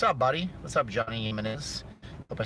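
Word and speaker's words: Jiménez: Jimenez with a J, because the J is like pronounced like a different letter in the Hispanics talk it.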